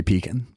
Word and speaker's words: pecan: Pecan pie. So, some people say pecan. And if you're from the deep south, you say peacon.